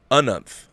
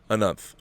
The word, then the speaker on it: Anunth: My name is pronounced Anunth. Anunth. 2 syllables, emphasis on the first syllable, and the is hard like in the. Anunth.